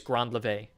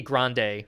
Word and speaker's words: grand lever: It's still pronounced grand. That's how it's written in French. Ah, okay. So even with the E, it's grand lever. So it wouldn't be grande like a coffee. It'd be grand lever even with the E.